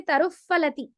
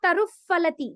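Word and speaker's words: फलति: Some people will say taruf phalati. That is wrong. It is not taruf phalati. Be careful. It is taruf phalati. You have to clearly pronounce that pha. Okay? Don't let go of the pha.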